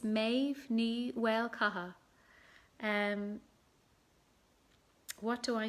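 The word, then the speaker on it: Méav Ní: lovely chatting and uh oh anka i did pronounce my name but i'll say it again for you it's maeve knee welcome and what do i miss about performing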